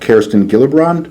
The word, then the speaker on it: Kirsten Gillibrand: Prior to the EU imposing a label on Israeli products in November, Senator from the great state of New York, Kirsten Gillibrand, am I pronouncing that right?